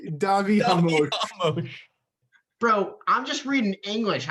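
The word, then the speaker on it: Davi Ramos: Davy Ramos. What is it? Davy Ramos? It's Davi Hamosh.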